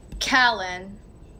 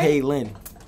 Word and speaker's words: Kaylin: Callen. Hmm? Callen? Did I pronounce it right? Kaylin. It's like Jalen.